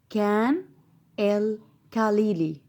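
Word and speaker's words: Khan el-Khalili: او مثلا مكان مشهور عندنا في مصر زي خان الخليلي، هقول ازاي؟ برضو هقول عليه كان الخليلي، كان الخليلي.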